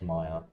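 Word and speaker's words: Myr: It's pronounced Maya.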